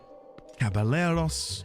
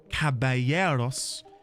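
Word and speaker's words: caballeros: Cabaleros. No. No. Cabayeros.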